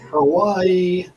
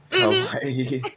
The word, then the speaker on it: kawaii: Hawaii. Is that how you say it? Kawaii.